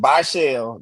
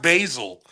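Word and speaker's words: Bhayshul: with Bashell, they got like basically that home run hitter. Who? With Bashell Tootin. Because Oh, he's Basil. fast. It's pronounced Basil. Oh, it's Basil? Yeah, like the season.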